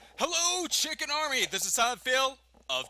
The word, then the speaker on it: CHKN: of you that are also wondering it is pronounced chicken C hkn so uh being the intern you